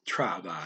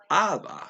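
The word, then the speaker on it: τράβα: He doesn't say trava. He says ava. Drops the tr again.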